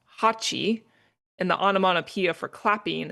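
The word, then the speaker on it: 八: So that makes me think clap feverishly because uh so the reason why they do this is because the number eight is pronounced hatchi and the anamonopia for clapping is pachchi pachchi.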